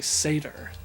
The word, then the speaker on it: satyr: but like I honestly thought that was the pronunciation I never do that it was actually satyr satyrs i know i bring this up a